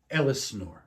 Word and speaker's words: Elsinore: How do you pronounce that? Elsinore.